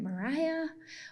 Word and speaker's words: Mariya: Is it Mariya? Is it Mariah? Well, you can say either one, Mariya.